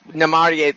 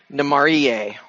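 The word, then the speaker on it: Namárië: But if you want the accent to be on a different syllable, you put the accent mark in to note that that's the syllable it should be. Otherwise, it would be Namarie. And this way it's spelled, it's Namarie. I mean, because you're putting your accent on the A.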